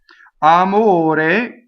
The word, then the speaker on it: amore: Amore is O, right? Closed O. Amore. That's the full word. The E gets chopped off here for the poetry.